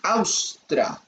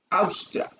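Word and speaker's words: haustra: dilatación, esta dilatación se llama austra, se escribe con H-A-U-S-T-R-A, austra.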